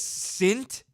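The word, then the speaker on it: Cintg: Note the G on the end is silent. Your name is Sint, and there's a silent G at the end.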